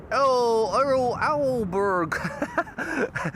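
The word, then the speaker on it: Aalborg: Ah, Daniel says, "Pronounce as oberg." That makes it much clearer for me. Thank you so much, Alberg or something.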